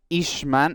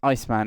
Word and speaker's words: Iceman: As Ishman, as I was calling him before, the McLaren, 2 names above myself, in the lobby, is actually pronounced Iceman. It is Dutch.